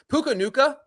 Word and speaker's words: Puka Nacua: Puka Nacua. Is that right? Nacua.